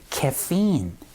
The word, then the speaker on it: caffeine: 자, 근데 카페인은 영어로 카페인이라고 발음하지 않기 때문에 원어민들이 이거를 정확하게 인지를 할 수가 없습니다. 그래서 이번에 발음 기호 한번 알아두신다고 생각하시면 좋을 것 같아요. 바로 카페인은요, caffeine 이렇게 발음합니다.